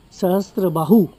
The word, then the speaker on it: Sahastrabahu: En vez de Sahastrabahu, Sahastrabahu lo llamaban Sasbahu.